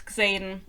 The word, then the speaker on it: Xaden: Like, I actually think it's Xaden, because you will also say Xavier in English.